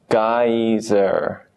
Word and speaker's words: geyser: And geyser. Again, this is the American spelling. We pronounce the R. Geyser. Geyser. With the British spelling, you'd be more likely to say geyser.